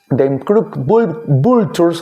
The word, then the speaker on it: Them Crooked Vultures: Bueno, The Crooked Vultures, así se pronuncia, fue este proyecto que publicó solamente un disco, y además tiene una faceta de productor.